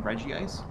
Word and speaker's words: Regice: Well, it's pronounced Regice normally, but like...